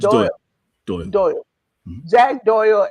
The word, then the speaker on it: Doyle: Did I pronounce that right? Davis and No, it's Doyle, Doyle.